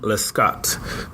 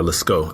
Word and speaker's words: Lescaut: And then got tickets to the Dallas Opera as well, and we got to go see Manon Lescaut, or Lescaut, I think, because it's a French pronunciation.